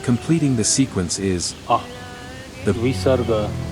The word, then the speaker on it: visarga: And completing the sequence is the Visarga. pronounced as a soft, aspirated H sound at the very end of a syllable.